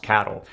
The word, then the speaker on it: CATL: I think it's pronounced cattle.